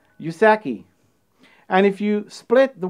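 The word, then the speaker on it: うさぎ: believed to be because in japanese rabbits are pronounced yusaki and if you split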